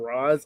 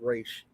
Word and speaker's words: Ra's: Like, I cannot tell you how many people keep saying Ra's. I'm not even gonna lie. It actually is pronounced Ra's.